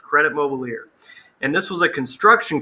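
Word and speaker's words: Crédit Mobilier: interesting this here is Credit Mobilier so it's pronounced Credit Mobilier and this was a construction company that was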